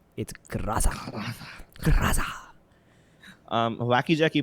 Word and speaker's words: Groza: That's correct pronunciation, by the way. That's how the Russians pronounce it. It's Graza. Graza. Wacky Jackie pronounces it as Graza, and most of the Indians call it Groza.